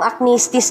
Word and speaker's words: acnestis: Yan, ano naman kaya itong acnestis na ito? Ano naman kayang kaartihan ito, di ba? So ito po ang acnestis, yung stress po ay nasa second syllable ha.